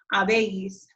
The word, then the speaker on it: habéis: Notice again, and hopefully you know this by now, but that H in Spanish is silent. He, has, ha, hemos, habéis, han.